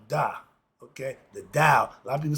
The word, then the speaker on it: Dao: It's supposed to be the D sound.